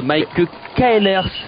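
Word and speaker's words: Maaike Caelers: On a aussi Mike Kaelers, est-ce que ça se prononce comme ça?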